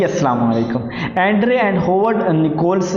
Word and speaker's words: Nicholls: वालेकुम Andre and hovered निकोल्स जो है इनका मॉडल है ये इस मॉडल को ना दो तीन नाम दिए गए हैं या निकोल्स निकोल्स मॉडल भी कहा गया नहीं निकोलस है निकोल्स है ये थोड़ा सा मैंने